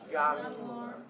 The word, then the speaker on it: Januar: January. It's a Y sound, so not a J, but a Y. So try it. Januar. January. Okay, so like you're yawning.